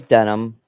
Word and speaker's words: Dunham: Oh, it is Dunham.